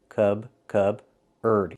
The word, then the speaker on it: cupboard: So the P is silent. Cub-erd.